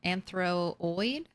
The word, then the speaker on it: anthropoid: take something over there anthropoid the p is silent anthroid is what I'm supposed to say just realized you have